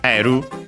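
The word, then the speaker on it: エル: But yeah, first and foremost we have L. in Japanese simply pronounced as eru. Again, we have the additional u at the end because the consonant can stay on its own, and then Japanese r instead of l because English l is technically can also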